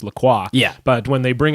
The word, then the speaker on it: LaCroix: So that's why like when LaCroix first came up and up here, obviously it's pronounced LaCroix.